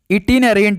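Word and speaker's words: itinerant: इटिनरेंट होगा भाई।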